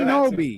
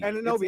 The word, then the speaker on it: Anunoby: I always butcher Ananobi. Ananobi. That's what I said last time. Someone said I messed it up. No, you said something else last time. Oh, I said Anunoby. Yeah, let's. Ananobi.